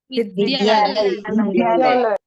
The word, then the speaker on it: विद्यालय: इसमें विद्यालय विद्यालय विद्यालय द आधा और य कभी कभी हम उच्चारण में क्या कर देते हैं इसको पढ़ने में थोड़ा सा उल्टा कर देते हैं द की जगह ध बोल देते हैं तो क्या हो जाएगा अगर द की जगह अगर ध बोले तो विद्यालय जिसका कुछ अर्थ ही नहीं निकलता है उसी प्रकार विद्यार्थी के